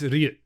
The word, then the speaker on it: Ryu: But I think it's Ryu. That's how you say it in Japanese, right?